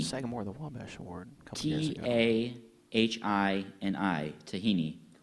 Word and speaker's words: tahini: Tah replaced aah sagore the Wes award couple t a h i n i tahini correct just say it quickly there's Sam